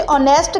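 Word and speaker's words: honest: नेक्स्ट Sadia is dash ऑनेस्ट girl. ऑनेस्ट में H silent है। तो यह लफ्ज ओ की आवाज से स्टार्ट होता है।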